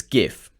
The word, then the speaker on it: GIF: I'm going to discuss the correct pronunciation of GIF. It's GIF.